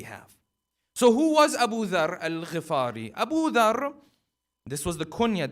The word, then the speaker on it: al-Ghifari: Many times people will pronounce the name as Abudharr al-Ghifari or Ghafari. The correct pronunciation is Abudharr al-Ghifari because his tribe was the tribe of Ghifar.